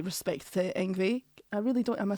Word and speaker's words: Yngwie: Yes, and I would also say, I don't want to say respect to YNGWIE. I really don't. Am I saying it right? YNGWIE, yeah.